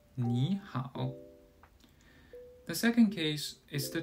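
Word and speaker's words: 你好: The first case is when 2 third-tone syllables occur together. The first syllable changes to a second tone, as in 你好.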